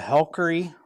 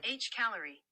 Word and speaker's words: Hcalory: who doesn't like Christmas I'm unboxing a Hy yeah that isn't how it's pronounced it's okay Siri says it is a h calorie user manual I'm a